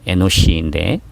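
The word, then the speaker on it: אֱנוֹשׁ: 에노스는 히브리어 발음으로 에노시인데 사람 혹은 인간이란 의미로도 사용이 됩니다.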